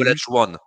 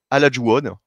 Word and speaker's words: Olajuwon: Olajuwon.